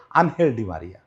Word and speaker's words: Ángel Di María: কখনো আলোতে আসে নাই এঞ্জেল ডি মারিয়া আজকাল লোক কে স্প্যানিশ উর্জন উচ্চারণের সঙ্গে মিলায় বলে আনহেলডি মারিয়া আমি এঞ্জেল বলতে ভালোবাসি কারণ দেবদূত তো আসলেই আমার